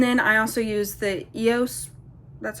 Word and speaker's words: EOS: And then I also use the EOS, that's how you pronounce it.